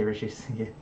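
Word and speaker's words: Reshevsky: Like there was like Paul Morphy, Sammy Rish, I can't pronounce his last name. Rishevsky. Yeah, Rishevsky.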